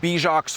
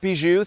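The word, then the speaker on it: Bijoux: And I was like, "Oh, it's pronounced Beiju. Thank you so much. You mean the French word for jewel cuz it's full of beautiful colorful rocks at the bottom."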